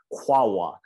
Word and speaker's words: QAOA: final computing company and they insist that it's phonetically pronounced as quawa which i've never heard